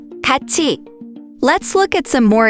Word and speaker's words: 같이: So it's pronounced 같이.